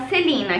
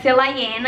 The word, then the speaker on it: Celaena: Nós fomos apresentados a Celina, que se escreve Celaena, então pode ser que em alguns momentos eu fale Celaena, outros momentos eu fale Celina.